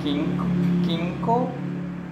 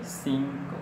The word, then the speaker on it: cinco: And then cinco, we don't say quinco, But we say cinco, since C is preceded by I, and then the next C is preceded by O. So the long C. So the first C is pronounced as S, and the second one is pronounced as letter K.